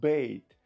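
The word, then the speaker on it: bait: Ні, вони неправильно вимовляють це слово бейт.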